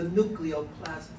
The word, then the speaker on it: nucleoplasm: substance in the nucleus we call the nucleoplasm. Rhymes with the word cytoplasm.